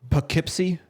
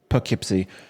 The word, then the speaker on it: Poughkeepsie: so yeah okay one more time is it Poughkeepsie Poughkeepsie yeah Poughkeepsie okay I don't have Amazon Prime because I